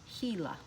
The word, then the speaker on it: Gila: And this word is pronounced Gila.